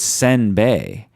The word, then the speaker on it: senbei: not a real word the real word is senbei which which are two different syllables you got sim like Sims like Sim City like Simba yeah and it's supposed to be sin sedin so that's completely different and instead of